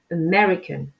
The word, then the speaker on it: American: Et donc là, vous insistez bien sur la syllabe mais. Et le A au début se prononce comme un E. C'est vraiment inaccentué.